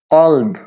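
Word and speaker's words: قلب: একটা উদাহরণ দিই, কফ দিয়ে আছে আপনার কলব, কলব।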